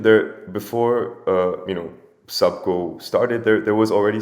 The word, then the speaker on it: Subko: what is subgo in in fact valerian it's pronounced subco so a lot of people read it as supko but uh i like to kind of make